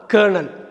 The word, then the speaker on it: colonel: COLONEL கேர்னல்னு தான் சொல்லணும், கலோனல்னு சொல்லக்கூடாது. கேர்னல்னாக்கா மிலிட்ரியில் ஒரு ஆஃபீஸர், அதுதான் கேர்னல். ஸோ இனிமேல் நீங்கள் பார்க்குறப்ப COLONEL பார்த்தீங்கன்னா கேர்னல் தான் சொல்லணும்.